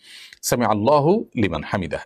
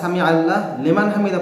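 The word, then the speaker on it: سمع الله لمن حمده: আসল সমাধান হলো যারা সামি আল্লাহ লিমান হামিদা পড়তেছেন এটা আসলে ঠিক নয় আসলে এর আসল উচ্চারণ হবে সামি আল্লাহু লেমান হামিদা অর্থাৎ হার উপর পেশ করতে হবে এবং লফজে আল্লাহর উপর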